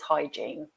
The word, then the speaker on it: hygiene: to know okay um and the pronunciation is just two syllables hygiene okay now we have